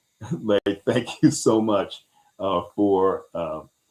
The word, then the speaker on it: Leigh: It's spelled Leigh and pronounced Lay. Lay, thank you so much for correcting me here.